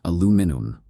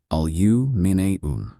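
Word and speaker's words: aluminium: In the US, it's aluminum. But in the UK, it becomes alu.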